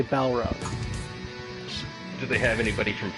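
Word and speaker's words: Balrog: who this is balog I'm sure it's supposed to be pronounced ballog but I just say balog do they have anybody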